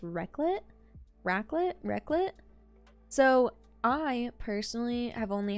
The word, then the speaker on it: raclette: So the next, I'm pretty sure this is pronounced raclette.